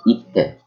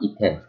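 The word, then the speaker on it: 行って: So, itte, itte, not ite, itte.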